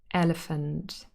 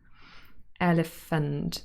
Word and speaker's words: elephant: short sound elephant elephant and then the ph is f sound that's our fricative elephant and now listen carefully to the last syllable here elephant fund fund the next sound is very short the very special sound it's the schwa sound uh the central vowel